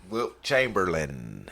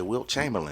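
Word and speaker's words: Wilt Chamberlain: Will Chamberlain. Let me say it correctly for you. He He What did I say? Will Chamberlain.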